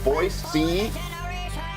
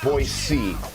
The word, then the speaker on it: Boise: foothills of eagle idaho boyce c you got to pronounce it boise that's a proper way